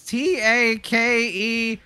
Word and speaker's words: Takeshi: Bo says I didn't say it right, so it's TAKESHI, and then like ownership S Castle.